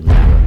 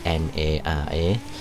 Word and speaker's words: Nara: similar note, uh we're heading now over to Narrow Park. Uh not Narrow. That's not just my accent because where I'm from, Narrow is usually pronounced Nar, but this is actually N A R A.